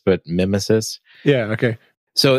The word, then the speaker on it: Mimesis: So if you're familiar with projects like Faker, or I believe it's pronounced Mimesis, maybe Mimesis. I think it's Mimesis, but like Nemesis, but Mimesis.